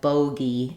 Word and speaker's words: bogey: dip thong K kg but in bogy or also fogy this is less common but we have this letter G saying the G sound um like in girl and so um we have bogy and fogy um these